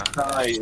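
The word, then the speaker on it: Ras Nsi: Rasnusai is the proper Hold on.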